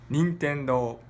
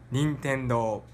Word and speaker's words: Nintendo: Anyway, so one more time, can we get Nintendo with a native pronunciation? Nintendo. Nintendo.